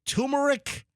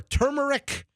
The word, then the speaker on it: turmeric: I have two pronunciations. Yeah, I think both might be acceptable. So, I I've heard turmeric or turmeric and turmeric.